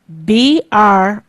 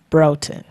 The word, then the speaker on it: Broughton: B-R-O-U-G-H-T-O-N. Broden. Thank you. When you're down south, they say Broughton, but it doesn't matter.